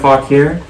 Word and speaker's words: Fauquier: like a mug that says it's Fauquier, it's pronounced Fauquier, so just like fun things that are local and whatnot, and even little onesies and toddler shirts that say made in Fauquier.